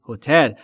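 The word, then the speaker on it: hotel: اکثر بچه‌ها اشتباه میگن یعنی میگن هو اشتباهه استرس روی بخش دوم یعنی روی تی هتل یعنی هتل هتل هتل یعنی به اون هتله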